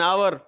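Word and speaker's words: hour: और अंतिम कहता है, कैन you wait for Khalistan an आवर? क्या आप 1 घंटे की प्रतीक्षा कर सकते हैं? आवर एच दे करके घबराएं नहीं बच्चों, ये अनप्रोनाउंस्ड रहता है, ये साइलेंट रहता है, इसलिए आवर इस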